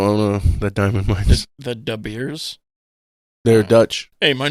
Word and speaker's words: De Beers: I don't think that's how it's pronounced because it's Dutch. I think it's like De Beer.